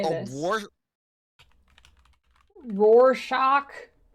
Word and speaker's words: Rorschach: Rorschach. Rorschach. That is how you say it.